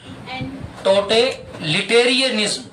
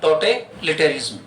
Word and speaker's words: totalitarianism: हाँ, टोटेलिटेरियनिज्म ये इसका प्रॉपर प्रोनाउंसिएशन होता है, लेकिन रिय आप यहां नहीं बोलते तो भी कोई दिक्कत नहीं, और इसके बाद आप निज्म बोलते हैं तो भी कोई ऑप्शन नहीं।